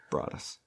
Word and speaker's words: Broaddus: too broad as family now you notice how it's spelt that is intentional it's spelled b-r-a-d-d-u-s brought us welcome to the product